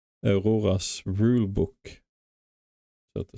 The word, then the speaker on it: Aurora: And I have to stop saying Aurora in English. It's Aurora for me. That's how I should pronounce it always. Aurora.